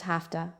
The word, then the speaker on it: have to: Have to becomes hafta.